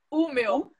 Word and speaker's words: Umeå: Como é que pronuncia mesmo? Umeå.